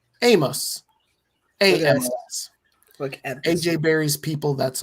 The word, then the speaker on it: Omos: So, so I only know that because that's what they called him on social media is Omos. O M O S, but it's pronounced Amos.